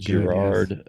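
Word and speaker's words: Girard: Theology of consent and he uh tackles Renee Gerard if did I come close to the right pronunciation? No, that's very good. Gerard uh where Gerard tackles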